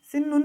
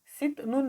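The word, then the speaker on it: 싣는: तर नुन भन्ने लाउँदाखेरि सिन्नुन भयो। सिन्नुन यसको उच्चारण सिन्नुन है। कस्तो त सिन्नुन हैन। सिन्नुन सित नुन हैन सिन्नुन है।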